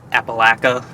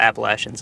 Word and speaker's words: Appalachia: actually pronounce it like Appalaca. Um and uh there's other areas of the country that um that have never been to the Appalachians and they typically say Appalachia.